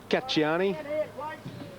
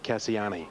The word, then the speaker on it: Cassiani: Correct pronunciation is Cacciani. My Italian friends tell me, but connections want Cassiani because that's what the Japanese owners called the horse.